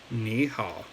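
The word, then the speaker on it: 你好: you can see here me and how are both pronounced in a third zone okay so Nihal okay both pronounced in the third town okay and as a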